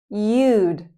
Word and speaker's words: you'd: You would you'd just like dude he would heed like the verb peed.